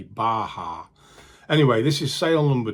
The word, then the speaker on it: Baja: Anyway, first sale to show you is a Mexican Barger hoodie. However, apparently they're not called Barger hoodies, they're called Baja.